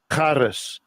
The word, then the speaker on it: charis: Charis.